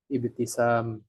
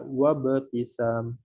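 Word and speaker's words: ابتسام: dengan kalimat-kalimat yang lain ibtisam ketika ada wau dibaca wabtisam titika tanpa wau dibaca ibtisam itu membedakan dengan Hamzah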